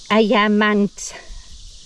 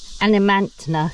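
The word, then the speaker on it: Adnyamathanha: European girl, and now it's hard to pronounce because it isn't pronounced as it's spelt. These are the local indigenous. Adnia Manthana. That's how it's spelt, but it's more like Ayamantna. Animantna, something like that, how it's pronounced.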